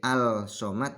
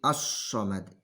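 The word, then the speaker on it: الصمد: Yang bacanya tidak boleh al-somad tapi as-somad. Allahus somad.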